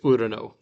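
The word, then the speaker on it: οὐρανῷ: But in this context, Urano.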